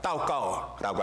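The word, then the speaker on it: 祷告: 여기 도고라고 하는 말도 중국말로 원로 기도를 가지고 도고라고 합니다. 따오까오라고 하면서 이 기도라고 도고를 발음하는데, 이 도고는 특별히 원어상으로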